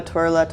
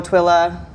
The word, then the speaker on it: Twila: What was the common, what would people call you? Oh, Twila, Twirla, Twiler. Twila? Oh, Twila.